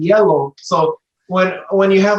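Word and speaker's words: hielo: Because in Spanish, ice is yellow. Yeah, because the G is like a H sort of sound? It's an H. Yeah. Oh, it's literally spelled with an H. Yeah, okay. Yeah, it's literally changed to an H. H-I-E-L-O. Yellow.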